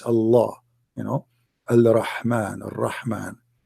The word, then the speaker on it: Allah: It's just you have to say the L twice. Allah, you know, Al-Rahman, Al-Rahman, right?